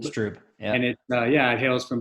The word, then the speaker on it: Strüb: So the name Strüb is spelled STRUB as in boy. It looks like Strub. It's pronounced Strüb. Strüb.